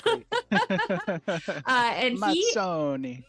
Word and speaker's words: Mazzoni: And he, Mazzoni. Mazzoni, I got to do it with the It fingers.